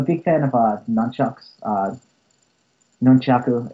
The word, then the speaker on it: nunchaku: fan of Nunu uh nunchaku if you want to you know pronounce it the right way I don't like when